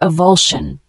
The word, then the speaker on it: avulsion: The word avulsion, spelled A-V-U-L-S-I-O-N, it's a noun, pronounced avulsion.